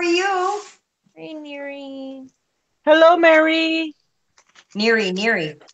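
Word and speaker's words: Nery: Neary, not Mary.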